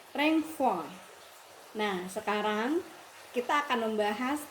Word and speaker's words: renvoi: Tulisannya renvoi bahasa Prancis, bacanya renvoi.